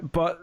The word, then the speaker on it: Bea: this character be is is it Bea do you pronounce it it's B it just B uh a bartender that